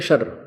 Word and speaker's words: क्षर: दो परमात्मा दो भगवान है छर छर पुरुष और अक्षर पुरुष छर अक्षर क्षर इसको वैसे उच्चारण करते हैं शर सर लेकिन हम समझाने के